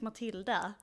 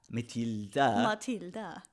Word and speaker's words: Matilda: But if you want to say it in the Swedish way, it's Matilda. Matilda. Okay. That Yeah, you gotta have the little sway with it.